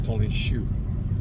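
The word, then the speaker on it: Tony Xu: And that would be priority number 1 if I was Tony Shu myself. And yes, that's the right way you pronounce his name.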